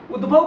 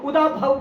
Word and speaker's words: उद्भव: बात आती है ना उद्भव को उदाव बोल देते है तो गलत है वो नाराज हो सकता